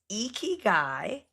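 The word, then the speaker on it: 生き甲斐: Um, it's pronounced eeky guy.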